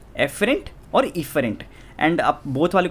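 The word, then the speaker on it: efferent: And motor को हम क्या बोल सकते हैं, इफरेंट, ठीक है, एफरेंट और इफरेंट।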